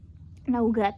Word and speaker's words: Nougat: Cara bacanya Nougat.